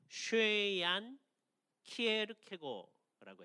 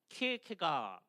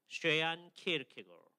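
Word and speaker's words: Søren Kierkegaard: 발음을 어떻게 하는 거냐면 쉐얀 키에르케고라고 해야 됩니다. 그렇죠? 이게 발음을 제대로 하는 사람이 드물어요. 서양 사람들은 키에르케가 이렇게 발음을 많이 합니다. 그죠? 예. 근데 덴마크 사람들이 키에르케고 그게 아마 제일 가까운 것 같아요.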